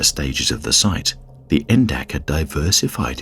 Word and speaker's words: NDAC: and Activity Center poly known by his acronym and pronounced endak opened in the former